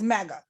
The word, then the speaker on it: MMCGA: for over here and we pronounce that as mega that's how we pronounce it yet don't y'all dare